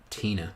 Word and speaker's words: Tina: Her name's pronounced Tina. Oh, okay, Tina.